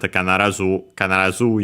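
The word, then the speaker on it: 必ず: The dictionary technically mentions an accent kanarazu ya, accent on the zu.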